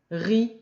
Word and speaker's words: riz: et qui repique et le riz le z ne se prononcent pas la bu à bas